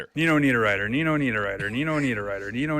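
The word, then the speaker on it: Niederreiter: and Nino need a writer who's representing Switzerland in hockey. This was the pronunciation guide I found on Twitter. Nino need a writer.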